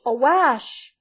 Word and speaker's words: awash: "All Brownsea be awash, awash!" sounding it so as to rhyme with lash.